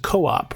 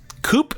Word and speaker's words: co-op: right pronunciation for the coop or coop well let me make it simple coop is short for a cooperative so the term should be co-op however I know that